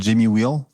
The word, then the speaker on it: Jamie Wheal: Il y a un auteur américain que j'ai reçu sur mon podcast qui s'appelle Jamie Wheal. Ça s'écrit W-H-E-A-L.